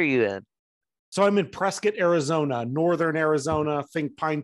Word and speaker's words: Prescott: in so I'm in Prescott Arizona Northern Arizona think pine trees is that how you say it I always thought it was Prescott spelled Prescott so if you're from not here you say Prescott